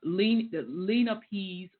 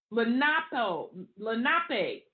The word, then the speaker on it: Lenape: conquest of their country in alliance with the Lenapes or ancient, shit, have me take a swig. Lenape, that's it.